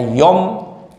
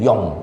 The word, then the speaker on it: Yom: hari Allah nurunkan pengampunan cuman bacanya yom pakai mim Yong bukan Yon kalau Yon batal Yon